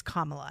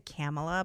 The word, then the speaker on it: Kamala: you mispronounce it by the way but she pronounces it three different ways depending on who she's talking to oh interesting Kamala it's Kamala is that what we're going with I used to say camela but I think it's Kamala all right Kamala